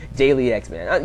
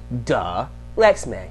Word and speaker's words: Dalyxman: Dalyxman. You do. I'm not saying it's... Okay, maybe I should shut up before I insult somebody. But it's Dalyxman. Dalyxman.